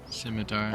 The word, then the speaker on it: scimitar: skid mark there wow has he pronounced the C okay simitar um I'm going to